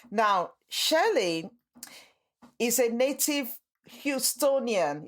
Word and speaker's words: Houstonian: Now, Shelley is a native Houstonian. Is that how you pronounce it, Shelley? That's how you pronounce it, Houstonian.